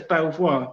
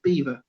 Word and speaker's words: Belvoir: on that street is be e l v e io r says Belvoir you'd say as Belvoir but not we pronounce it beaver it's no I don't